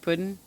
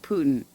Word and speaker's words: Putin: or am i like is it supposed to be pronounced like puddin pudding chocolate pudding or is it putin i i feel like